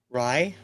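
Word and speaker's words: Raï: And this is considered, was it RAI? Well, how do you pronounce that? Rye? Yeah, that's the type of music this is.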